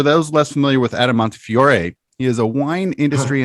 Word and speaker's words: Montefiore: pronounce it we say montefiore i know in america some people say montefiore we say montefiore and of course it's originally an italian name so that's that's where